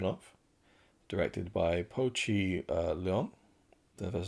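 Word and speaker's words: Leong: And this is a film that I had very little expectation of directed by Pochi uh Leon that's how you pronounce it.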